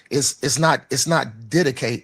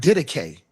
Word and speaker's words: Didache: It's not Didache. It's Didache. Have you ever mentioned the word on this chat before?